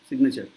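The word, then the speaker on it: signature: কি ডি এস আই জি এন কিন্তু জিটা উচ্চারণ হয় না সাইন যেমন সাইন সিগনেচার সিগনেচার বলার সময় কিন্তু সিগনেচার বলছি সিগনেচার কিন্তু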